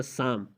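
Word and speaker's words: psalm: इसी तरह साम, साम में भी आप देख सकते हैं कि एल के बाद एम आया है और एम से पहले एल आया है, यहाँ पे खामोश है। और उसमें एक और हर्फ भी आप देख सकते हैं कि वो खामोश है, पी है, क्योंकि कानून ये था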